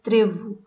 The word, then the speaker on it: trevo: It's not clee. It's in Portuguese. It's trevo.